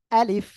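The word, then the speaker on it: ألف: তারপর আমি বলব বলেন দেখেন অনেকের ভুল আছে এটা আমরা বলবো হলো আলিফ আলিফ নিচের ঠোঁটের পেট সামনের উপরে দুই দাঁতের আগার সঙ্গে লাগিয়ে আমরা উচ্চারণ করব ঠিক আছে শেষের দিকে আমাদের নিচের ঠোঁটের পেট উপরের দুই দাঁতের আগায় লাগবে প্রথমে আ তারপরে লি তারপরে এই নিচের ঠোঁটের পেট উপরের দুই দাঁতের আগার সঙ্গে লাগিয়ে হালকা বাতাস বের হবে আলিফ আলিফ ঠিক আছে এভাবে উচ্চারণ করতে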